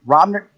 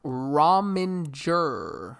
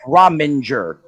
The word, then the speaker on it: Rominger: 8th, that's going to be Mike Romner. How do you say that again, Angel? Mike Rominger. Mike Rominger. Multiple syllables in there.